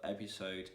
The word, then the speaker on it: episode: s like a z also there are some exceptions in which that's s is in between two vowels but you don't need to pronounce it like a z but as a as an s so for example in the word episode in the word isotope you need to pronounce it as as an s not like is that uh you